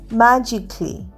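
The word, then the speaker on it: magically: পরেরটা এম এজি আই সি এ এল এল ওয়াই ম্যাজিকলি। ম্যাজিকলিরও এ লাস্টের এ উচ্চারণ হচ্ছে না।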